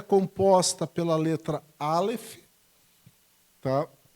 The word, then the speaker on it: Aleph: Então, ela é composta pela letra Aleph, tá? Que é uma letra muda, como o nosso H no português, né?